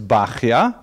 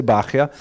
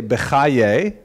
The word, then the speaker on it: Bahya: The customary pronunciation is Bahya, but it's not a regular Hebrew spelling at all. Bahya would be something like Beit Chet Yud He, maybe. But people say Bahya.